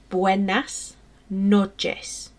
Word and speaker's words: buenas noches: how about you have a go so it's pronounced buenas noches okay so your turn guys buenas noches so